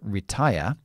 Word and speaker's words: retire: consonant and an E that E is always I or the short I, which is i. So it's retire, retire.